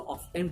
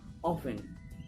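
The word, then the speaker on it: often: या this word बहुत ही miss pronounce होने वाला वर्ड, बहुत से लोग इसको ऑफ्टन पढ़ते हैं, बट इसकी एग्जैक्ट प्रोनाउंसिएशन क्या है? ऑफन। व्हाट? ऑफन।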